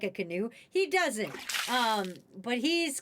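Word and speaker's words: Kinew: This is Wob Canoe. And I wish his last name was spelled like canoe, but it's not.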